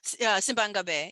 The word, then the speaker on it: Simbang Gabi: One of the, I guess it's a tradition, and you'll get the pronunciation correctly. I won't. Simbang Gabi is Simbang Gabi, yeah.